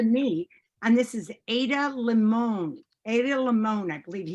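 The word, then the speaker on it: Ada Limón: Adalimon. And I want to say, you might pronounce it Limon, Ada Limon.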